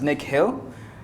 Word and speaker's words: Nikhil: My name is Nikhil. It's pronounced as Nick Hill.